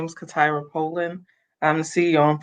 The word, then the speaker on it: CaTyra: CaTyra.